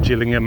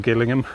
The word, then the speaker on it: Gillingham: My disastrous mispronunciation of Gillingham and or Gillingham.